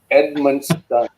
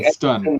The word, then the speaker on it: Edmundston: So what is the status on I can't even pronounce it. Edmundston? Edmundston. It's like Edmundston.